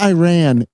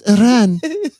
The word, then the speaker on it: Iran: You're not saying it correctly. It's not Iran. It's Iran.